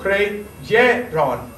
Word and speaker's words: creyeron: No, creyeron. Creyeron. Actually, this is your syllable. Creyeron. So we have 3 syllables instead of 4.